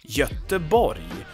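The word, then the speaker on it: Göteborg: but in Swedish it's the body we have no G sound there it's not Gothenburg good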